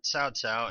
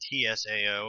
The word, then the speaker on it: Cao: and the Chinese warlord SAA now I know it's spelled CAO but it's actually pronounced Tsao at least according to